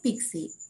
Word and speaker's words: PKCE: key for code exchange so we can pronounce it as pixi so it is a